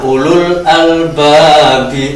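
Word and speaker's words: أولو الألباب: Kita baca selanjutnya ulul albabi, wawu tidak kita baca.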